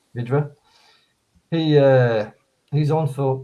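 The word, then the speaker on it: Vydra: the the goal when i call them hydra but it's not pronounced hydra is it it's vydera vidra he uh he's on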